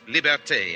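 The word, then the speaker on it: liberté: Al is for Liberty Liberty is pronounced liberte in Haiti and martinque libertad in the islands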